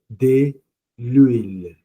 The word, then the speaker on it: l'huile: starts with a vowel because we don't pronounce the h it's h mu a so it becomes de l'huile so it was hard